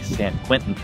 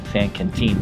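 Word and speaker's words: San Quintín: uh Mexican Anchorage um s Canen or if you're a stupid white guy you say San Quinton but San Canen is how you say it and it's gorgeous oh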